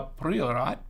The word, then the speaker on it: Priorat: III, and it's a Priorat, or as they say in Spain, a Priorat. Priorat. I'm not really good with trilling. I'm not. My apologies. But it is a Priorat.